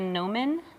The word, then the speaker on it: gnomon: And this, in real terms, is a gnomon. Can you say that? A gnomon? Gnomon. It's spelled like gnome, like gnome is Okay. with a G. The G is silent.